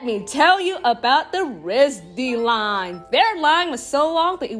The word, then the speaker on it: RISD: I thought it was RISD, but it's RISD. So during the event, I asked the person who worked for the event where RISD was, and he pointed at the Rochester Institute of Technology. You see, I pronounced RISD. Like RIT. And RIT is the acronym for the Rochester School.